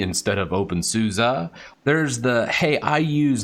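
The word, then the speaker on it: openSUSE: gnome or debian you say deviant you say open susie instead of open souza there's the hey i use linux therefore i'm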